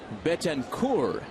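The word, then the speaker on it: Betancourt: on that occasion that the gentleman's name is pronounced Betenur. There we go. We'll just cross that tea off.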